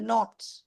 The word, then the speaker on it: knot: The knot. K-N-O-T. Yes, very good, very good. Yes, Bhavika, very good. K-N-O-T. I'm talking about knot, but I'm spelling it as K-N-O-T.